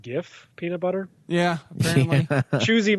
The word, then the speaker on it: GIF: a this is a gift gif thing that i don't want to get into oh jesus jib now i've always said gib by the way jake you said jiff i think you meant gif peanut butter yeah apparently